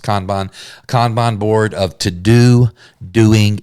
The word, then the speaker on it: Kanban: Some people say Kanban. I'm pretty sure it's pronounced Kanban board of to do, doing, and done that you're running in your business.